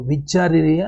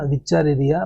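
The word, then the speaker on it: Wuchereria: वी बोलो विचारिया, है ना, विचारिया बैंकॉप्टी. उसका प्रोनाउंसिएशन डब्ल्यू यू को वी बोलो, उसको डब्ल्यू यू को वी बोलो.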